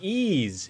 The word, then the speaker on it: Ys: I think it's just pronounced ease.